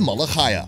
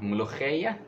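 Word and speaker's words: mulukhiyah: I've come here for the malachaya. Not how you say it. It's called mulukhaya.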